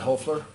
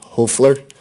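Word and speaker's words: Hoefler: Hofler, Your Honor.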